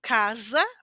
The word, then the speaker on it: casa: casa eu dizia que quando nós temos um s entre vogais eu dizia princesa certo casa princesa a pronúncia que o seu dente vibra lembra que nós falamos